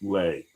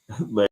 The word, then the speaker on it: Leigh: It's spelled Leigh and pronounced Lay. Lay, thank you so much for correcting me here.